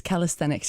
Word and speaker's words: calisthenics: So can I just ask, am I pronouncing, is it calisthenics? It is calisthenics, yes.